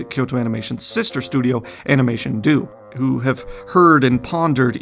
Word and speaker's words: Animation Do: point out that no, this company's name is not Animation Do. It's actually Animation Do, just as I've been pronouncing it up until now. Look at the way they spell it in katakana for proof of that before you decide to embarrass